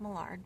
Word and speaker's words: Mallard: He said it was pronounced Millard, but spelled like Mallard, like the duck.